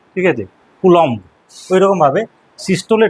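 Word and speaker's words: systole: সিস্টোল আর ডায়াস্টোল এই উচ্চারণটা কোনোদিন আর করবে না, বলবে সিস্টোলি ডায়াস্টোলি। তো প্রোনাউন্সিয়েশন সিস্টোল ডায়াস্টোল ভুল প্রোনাউন্সিয়েশন, যেহেতু বাংলা পড়ে এসেছিস, সিস্টোলি বলবে, ডায়াস্টোলি বলবে, নট সিস্টোল নট ডায়াস্টোল, সিস্টোলি ডায়াস্টোলি, ঠিক আছে।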